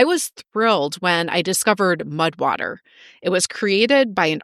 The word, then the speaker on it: Mudwtr: Mudwater is spelled Mudwtr.